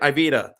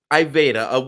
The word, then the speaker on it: Iveda: for those at home I was pronouncing it ivita and he corrected me so it was pretty funny so I'm not gonna do that anymore um so iveda what separates I beta